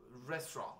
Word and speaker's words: restaurant: we all know uh restaurant right that you don't really pronounce the t because the ending t you don't pronounce it so here and this